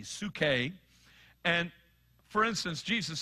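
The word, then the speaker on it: ψυχή: two words translated life one is Sookie it's spelled in the Greek PS you see H e su ke and for instance Jesus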